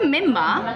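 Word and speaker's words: menma: It's a memma.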